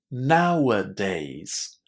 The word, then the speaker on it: nowadays: It's actually three. Listen. Nowadays. Nowadays. There is a little h sound in between now and days.